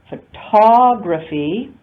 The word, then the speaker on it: photography: So notice in the word photography, the only full vowel occurs in the stressed syllable, the second syllable ta. All the other vowels are unstressed vowels, photography, and photographic, again, the only stressed vowel occurs in that next to the last syllable. The other vowels are all unstressed vowels.